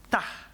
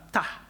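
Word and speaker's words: Ptah: Memphfit, yaitu ada dewa namanya, saya gak bisa bacanya saudara ya. Dewa itu namanya tah P t H tah.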